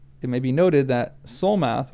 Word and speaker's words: Solmath: It may be noted that Solmath was usually pronounced and somewhat written Sumath.